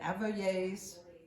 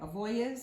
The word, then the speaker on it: Avoyelles: Moreauville was a small community located on the Bayou des Glaces in Avoyelles. Did I say it right? Avoyelles?